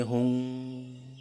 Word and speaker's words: Hum: again, Om Mani Padme Hum. Or if he has learned it from a Tibetan teacher, Om Mani Padme Hum. The vowel U is similar to the first vowel in the English word woman.